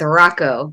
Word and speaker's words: Hracho: But my family and we go with Rocco. Both the H's are silent, so we're kind of like Rocky.